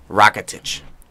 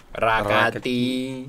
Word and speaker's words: Rakitic: this could be the one of the biggest transfers of the season, with Barcelona giving PSG 60 million pounds with Rakitic. Rakati.